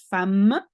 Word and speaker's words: femme: Un homme belge et une femme. You say femme, even though you write femme.